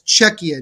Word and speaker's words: Czechia: really what it's about how are pronouncing the czechia team it's according to the country themselves this was during last year's World Juniors they wanted to be pronounced as cekia not the Czech Republic so that's what it